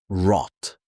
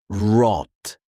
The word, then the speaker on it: rot: In German, the R is often produced in the throat, not rolled like Spanish, not smooth like English. It's subtle. Sometimes almost silent at the end. For example, rot. You don't exaggerate it, you soften it.